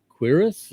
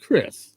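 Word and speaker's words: Quriss: i believe it's uh queerus i think q-u-r-i-s-s i think that's how it's pronounced but i am horrible names so i appreciate you tuning in and thank you for uh oh it's pronounced chris okay thank you appreciate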